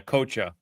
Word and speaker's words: Coccia: I've heard Coccia, but yeah, Coccia, like coach, Okay.